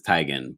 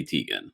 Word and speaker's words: Teigen: her tygan but everyone she said the correct pronunciation is tigen but you know people say tegan which is whatever whatever we'll call her tegan